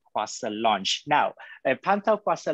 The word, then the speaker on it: Kuasa: I'll spell it again for all of us here today. It's Pantau, P-A-N-T-A-U, Kuasa, K-U-A-S-A, those are in one word, .org.